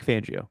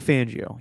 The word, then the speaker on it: Fangio: now yes yes yes Vic fangio is it fangio or fangio I've heard fangio lately and I've been pronouncing he's not he's not Fabio fonzio I've always called him calling him fonzio I'm like fangio yeah